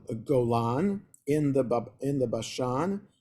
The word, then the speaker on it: Golan: note the way it's supposed supposed to be pronounced as Golan Not Gon okay atan M so the Gite families from the Levites from the half the tribe of manasha they got the Refuge city of G Golan in the in the Bashan and its land